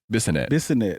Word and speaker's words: Bissonette: I can't say his last name. Bissonette. That's how you say it? Oh yeah.